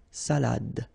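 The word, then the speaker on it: salade: all right so unalad same thing here final you don't insist on it it only gives you the pronunciation of the previous letter so the salad salad okay salad and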